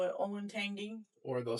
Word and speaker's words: Olentangy: Um, one of the top words that come to mind is Olentangy. A lot of people call it Olentangy.